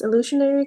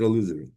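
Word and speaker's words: illusory: illusionary contract, I think. Right. It is. Very good. Very good. It's illusion. Why is it elusory? Elusory. There you go. That's how you pronounce it.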